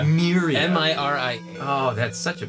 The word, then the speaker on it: Miria: Miria. Miria.